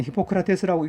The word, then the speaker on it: 히포크라테스: 그러나 고대 그리스 그 의사인 히포크레이츠는, 히포크라테스라고 읽지, 우리는 다른 생각을 가지고 있었다.